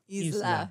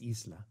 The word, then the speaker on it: Isla: so spoiler okay remember this is how you say it in Spanish Isla I've never ever said it that way Isla I thought it was Isa I'm incorrect I have